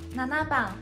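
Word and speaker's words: 七番: 七号呢，写作七番，读作ナナバン。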